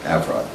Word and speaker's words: Avrod: They pronounce it Avrod up there, you know. Berlin and Milan as opposed to Berlin and, you know, Milan, okay? So it's Avrod.